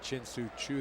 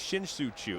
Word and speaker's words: Shin-Soo Choo: Well, not if you say his name like that. Yeah, I mean, well, see, there you go. Let's hear it again. It's Shin-Soo Choo.